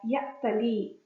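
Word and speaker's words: يأتلي: The past tense form 8 verb is pronounced as i'tala, and the present tense is pronounced as ya'tali, noting that the ya at the end has dropped due to grammatical reasons.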